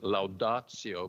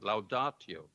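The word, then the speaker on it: laudatio: to offer a loudartio I had to ask somebody whether I should pronounce it in medieval latinus laudazio but I okay it's proper Latin loudartio for my long-standing friend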